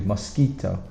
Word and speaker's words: mosquito: Mosquito is a very difficult spelling. Keto. So we have Q-U-I, which we pronounce ki, and then T-O is toe, not to, mosquito.